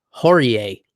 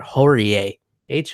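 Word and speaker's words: Horie: kick knockout over Yoshinori Horry 8 I would have swore it was Horry because that sounds like a more Japanese pronunciation but holy 8h o RIE this was a great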